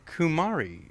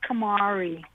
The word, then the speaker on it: Kamari: My name is pronounced Kamari. Kamari.